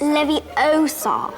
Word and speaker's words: Leviosa: You're saying it wrong. It's Leviosa.